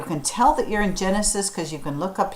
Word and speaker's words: Genesis: to the book of Genesis. It starts with a G, but we pronounce it with a J sound, Genesis, which means beginning or the first book.